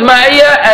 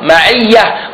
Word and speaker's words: معية: However, when in the Arabic language, when you want to stop at that word, or you want to read it on its own, you don't pronounce the ta.